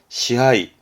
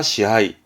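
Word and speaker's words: 支配: 발음은 시하이, 지배하다, 시하이, 시하이.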